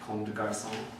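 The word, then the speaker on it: Comme des Garçons: How do you say comb Comme de garçon. comb?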